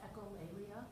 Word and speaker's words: echolalia: I didn't even look up the pronunciation of this word. Do you have a? Yeah, it's echolalia.